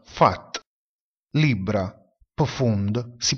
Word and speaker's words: Pfad: La lettera P seguita dalla lettera H oppure dalla lettera F si pronuncia F. Ad esempio, filosofia, filosofie, si pronuncia filosofie. Percorso, pfad, si pronuncia fat.